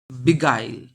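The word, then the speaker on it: beguile: Next question আছে বিগাইল। উচ্চারণটা এরকম হবে, বিগাইল।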